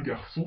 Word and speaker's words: garçon: Un C cédille se prononce S, comme la lettre S. Sa, so, su. Exemple, un garçon français.